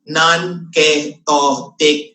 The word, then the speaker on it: nonketotic: the word to me nonketotic good okay pronounce It by syllable go nonketotic Syndrome Okay so non kic Syndrome kuha niyo ha How many syllables Did I mention non kic Syndrome How many six so correct Okay so